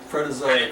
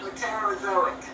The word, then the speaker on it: Proterozoic: You're a good I tried to pronounce it. You did a good That's job. close enough. Proterozoic. Protozoic. Proterozoic.